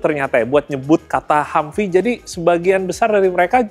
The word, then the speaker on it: Humvee: Nah, secara tulisannya teman-teman kurang lebih kayak Humvee ya dibacanya ya.